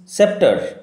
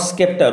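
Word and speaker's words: sceptre: সময় নষ্ট so with সেপ্টার নট স্কেপার উচ্চারণ বানান লক্ষ্য করো উইল রিমেন সাইলেন্ট সেপটার থ সেপ্টার তার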